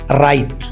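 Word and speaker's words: write: रखें पहला are read दूसरा आर राइट डब्ल्यू साइलेंट रहता है रीड राइट तीसरा आर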